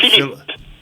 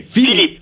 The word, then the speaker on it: Philippe: I know this is a dumb question, but how do you pronounce Philip in France? Is it Philip? Okay, Philippe. Philippe.